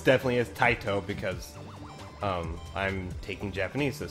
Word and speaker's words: Taito: I know it's definitely is Taito because I'm taking Japanese this semester. Mm. So I know that it would be pronounced Taito.